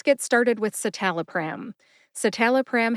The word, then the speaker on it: citalopram: started with satal pram satal pram has four syllables s tell a pram s like sit tell like Talent uh which is a